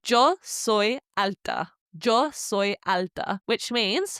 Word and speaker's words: yo: You say joy. Now it's literally written jo y o soy s o y like soy sauce is the best way to remember it.